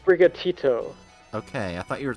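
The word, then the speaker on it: Sprigatito: Sprigato? The grass boy Pokemon. Fuecoco, the fire croc Pokemon. There is not a thought Bright. Behind those eyes. What? Bright? What? It's pronounced Brigatito.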